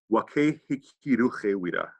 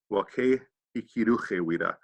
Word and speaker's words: Wake Hikiruchewida: But in HoChunk, also I think in Spanish, that if a word ends in an E, you pronounce the E. So Wake Hikiruchewida.